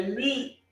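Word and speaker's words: μι: Nós temos, não é mu não, tá? É mi, tá? Pronuncia-se mi. Um mu meio puxado, né? Em vez de falar mu, fala mi, né?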